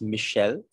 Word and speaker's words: Michel: And it's Michel, and this is him.